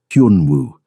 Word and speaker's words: Hun Wu: Hun Wu. He said it slowly. Hun like hun but with a Y sound. Woo. Like woohoo.